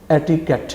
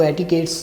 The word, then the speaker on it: etiquette: اس کے ساتھ ایس کا اضافہ کرنا بالکل غلط ہوگا اور اس کا درست تلفظ یا پروننسیشن ایٹیکیٹ ہے. یعنی کہ آج کے بعد آپ نے یہ نہیں کہنا کہ آپ کو ایٹیکیٹس نہیں آتے, بلکہ آپ